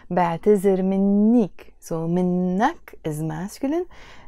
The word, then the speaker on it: بعتذر: The actual verb in standard Arabic is اعتذر, and we pronounce it with a ذ. But in Lebanese Arabic, we take the ذال and we pronounce it as a ز, زين, بعتذر.